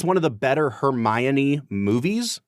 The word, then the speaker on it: Hermione: Yeah, there is an O, but you don't pronounce it. It's just Hermione. How many syllables in Hermione? 4 syllables. Hermione. It's not Hermione.